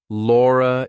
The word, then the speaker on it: Laura: is spelled like R so if I have to link my name to something else that's a vowel I have to put an r in there so I say Laura is Laura is great